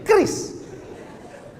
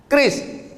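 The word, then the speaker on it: QRIS: Cara bacanya gimana sebetulnya? Keris q-nya quick. Quick artinya cepat. R-nya response. Kris quick response.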